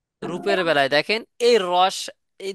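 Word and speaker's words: ر: এক আলিফ যে কেন টান হবে সেটা আমরা বুঝাই দিলাম, কারণ এখন আপনি বললে বুঝবেন না, যতক্ষণ না রুল পড়তেছেন, তো এটা পড়াবো পরে।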